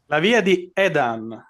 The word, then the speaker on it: Edan: Edan.